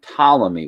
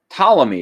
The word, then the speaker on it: Ptolemy: by a man named ptolemy with that silent p in his name and of course he